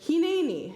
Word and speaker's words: Hineni: And Abraham answered, Hineni, here I am. Abraham answers, Hineni, here I am here. What a word, 3 syllables and so much in it.